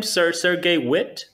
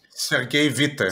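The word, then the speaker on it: Sergei Witte: Sergey Witt? Sergey Vite.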